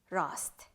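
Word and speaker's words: rast: technique and terminology okay so we have misrobe rust mesrop means pig you are going just to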